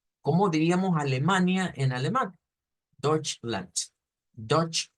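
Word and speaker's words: Deutschland: belen le escucho pronunciemos dutchland d Lan quiero corregirle algo porque ya van varias veces usted me mete una u acá usted dice algo como y no lleva esa u es solo la Ho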